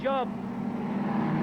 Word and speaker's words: Job: away there from Darren Job. I think it's pronounced Job actually, but J-O-B.